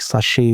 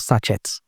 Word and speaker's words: sachet: Like, for example, words like sachet water. It's not sachet, sachet. You pronounce the word properly, entrepreneur, not entrepreneur.